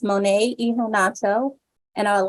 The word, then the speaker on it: Monet Iheanacho: greetings again everyone my name is uh pronounced monetonato and I would like to welcome you to